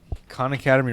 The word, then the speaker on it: Khan Academy: Khan Academy rhymes with chicanery. If Yeah. you say it the right way, so Chicanery.